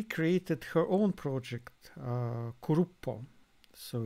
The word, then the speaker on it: cluppo: years later she created her own project uh kurupo so it's uh spelled club but it's uh pronounced grupo so it's her signature thing yeah krupa is the sound which pigeons make in japanese